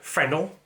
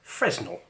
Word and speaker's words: Fresnel: pretty rare and that's something called a phenol or fresnel depending on how you've been taught to pronounce it very simply they are